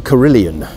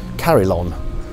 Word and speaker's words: Carillon: We used to call it the Carillion when we were kids, but it's not spelled like that. It's Carillon, as in Carillon Court in Loughborough, but it is what we call the Carillion.